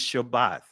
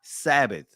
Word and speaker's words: Shabbat: No, it's Shabbat. It's not Shabbat. It's not Sabbath. Sabbath is a Greek pronunciation of it.